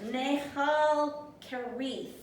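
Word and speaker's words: Nahal Kerith: Let me say it better. Nehal Kerith is how you would actually try and pronounce it.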